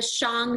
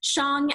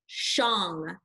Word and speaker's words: Shang: you see is the song dynasty now that's pronounced wrong not Shang Xiang as if you're hitting a gong Xiang deshaun dynasty was China's